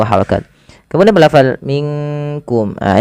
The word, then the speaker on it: منكم: Kemudian melafal minkum. Nah, ini yang sering terjadi, bukan minkum tapi dia samarkan ke huruf kaf.